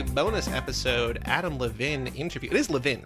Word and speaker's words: Levin: Is that Levin yes, is the it Chicago way of pronouncing it?